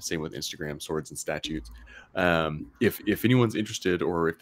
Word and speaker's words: Statutes: That is Statutes, not statues.